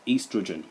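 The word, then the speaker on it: oestrogen: Starts with an O but is actually pronounced estrogen.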